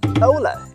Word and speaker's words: Ora: new world is Ola it sounds a little bit like Aura right but still have some difference in the tail of the words oh oh pronounce it just like the letter O and L you could make it